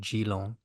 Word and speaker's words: Geelong: with the Pro Series starting in 70.3 Geelong on It's January. not French, mate. It's Australia. So come on, get that Yeah, fancy pronunciation. It's Geelong, not Geelong.